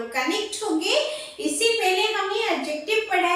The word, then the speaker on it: adjective: देखिए मैं एडजेक्टिव बोल रही हूँ, डी को मैं साइलेंट कर रही हूँ, लिखा मैंने एडजेक्टिव है बट डी is silence, okay.